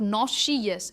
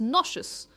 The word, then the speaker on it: nauseous: Next है nauseous, nauseous, not nauseous, it's nauseous। और stress है नौ पर, nauseous।